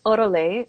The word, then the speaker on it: Orolait: It's Orolait. Oro is Orolait. all. Oro is gold in Spanish, and lait is milk in French, because breast milk is often referred to as Liquid liquid gold, gold.